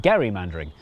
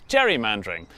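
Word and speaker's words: gerrymandering: gain became known as Gary mandering and then everyone started pronouncing it wrong which is how it became known as Jerry mandering which was good news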